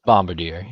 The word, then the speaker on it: Bombardier: bombard c yeah yeah am I mispronouncing it is it Bombadier it's Bombadier yeah you know I've always